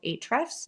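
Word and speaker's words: Ahrefs: So a great tool that I really love using is called Hrefs. It's spelled A H R E FS.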